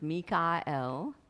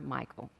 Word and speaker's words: Mikael: So I will refer to him sometimes as Mikael, which is the way it is pronounced by him, or Michael.